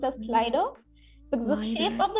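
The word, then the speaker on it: Slidr: We so also have Voodoo Val saying font name as slider, like S-L-I-D-R, but pronounced as slider.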